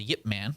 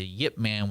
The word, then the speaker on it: Ip Man: I understood and remembered a little bit the Yip Man was based off of a man there's a yep yep that's why that's how they pronounce it it's not a fine bride whiip